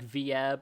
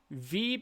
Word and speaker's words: Vieb: some people are like v-ab and they're sitting here literally like veeb is pronounced like deep with a v and rhymes with sheep so it's like veep